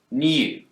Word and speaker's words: new: in the word new brits will tend to pronounce a y sound here new but americans don't they've dropped the yacht